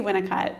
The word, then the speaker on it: Winnicott: Yeah, I say Winnicott.